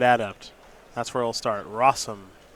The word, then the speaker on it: Rosum: that's where it'll start rossum did you know it rhymes with awesome i did know that